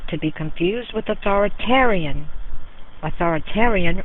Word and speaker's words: authoritarian: Authoritarian rhymes with barbarian.